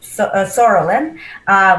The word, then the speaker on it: psoriasis: And when we combine psoriasis, which actually spelled with the P, is just silent, it's called PS, psoriasis.